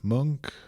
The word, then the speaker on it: Munch: currently you work at the is I always mispronounce monk monk how's what's the correct pronunciation that was perfect